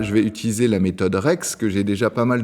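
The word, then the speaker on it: REXS: Ça se prononce Rex donc comme un petit chien mais sauf que ça va s'écrire re CSS.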